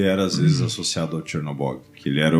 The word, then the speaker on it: Chernobog: um deus do submundo chamado Zernobok. É Chernobog.